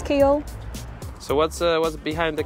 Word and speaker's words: Keele: about Kiel name well the name Kiel is derived from the anglo-saxon Chi Hall which is kind of like cow hill and depending on your accent how you say it Kyle Hill Chi Hall kind of becomes keel so what was behind